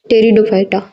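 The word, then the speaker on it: Pteridophyta: थॅलोफायटा ब्रायोफायटा आणि टेरिडोफायटा टेरिडोफायटा मध्ये पीटी अशी स्पेलिंग येते इथे पी हा सायलेंट असतो इथ टेरिडोफायटा आता तुम्ही म्हणाल शोक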